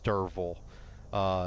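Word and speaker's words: Derfel: stories perspective his name's Derval it's actually spelled de f rder fel but the F is pronounced as like a V sorry I had a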